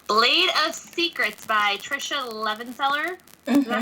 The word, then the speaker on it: Levenseller: going to be Blade of Secrets by Tricia Levenseller. Mm-hmm. Is that how you say her name? Levenseller?